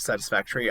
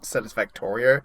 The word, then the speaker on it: Satisfactory: I'll be making more content of Satisfactory. I know I said the name wrong in the first episode. I said Satisfactorio.